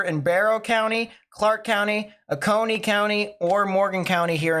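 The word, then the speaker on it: Oconee: latest tornado warning that just got issued um aone is what it's pronounced perfect aone so um I was just about to mention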